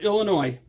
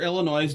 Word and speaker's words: Illinois: the state illinois or illinois depending on where you're from because there are people that don't live in illinois that don't know to not pronounce the s right that's true so